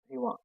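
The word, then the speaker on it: Brillouin: So exact pronunciation is Briva. This is French scientist.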